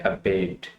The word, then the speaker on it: abate: आज का वर्ड है अबेट। इसकी प्रोनाउंसिएशन पहले सीख लेते हैं। अबेट, अबेट, अबेट। फर्स्ट जो इसका सेलिबल है उसके ऊपर आपने स्ट्रेस देना है।